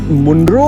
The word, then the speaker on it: Munroe: The sun is up This looks so lovely How do you say Munroe- is it Moonrow or Manroe They are both correct A very peaceful boat ride We were in Ashtamudi Lake, now we are in the canals.